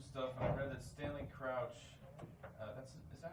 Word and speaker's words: Stanley Crouch: I've read some stuff, and I read that Stanley Crouch, is that how you pronounce it? Yeah, Stanley Crouch.